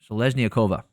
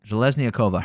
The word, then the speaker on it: Zhelezniakova: Montserrat Rendon versus Daria Zhelezniakova. That's how you pronounce it. Zhelezniakova.